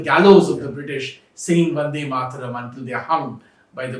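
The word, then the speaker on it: Bande Mataram: became this great nationalist how do you pronounce it is it b or is it V is it V or is it B well it's actually B matam uh but when you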